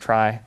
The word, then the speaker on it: trie: whatever uh so it's but it's pronounced try uh it's just another